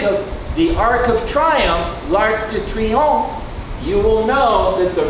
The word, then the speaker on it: L'Arc de Triomphe: L'Arc de Triomphe. And notice here on this R, I rolled my tongue a little bit.